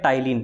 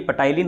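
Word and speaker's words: ptyalin: अपने मुख के अंदर जो स्टार्च होती है उसका पाचन माल्टोज में करता है टाइलिन, पी से लिखा जाता है, हालांकि पटाइलिन है लेकिन पी साइलेंट रहता है।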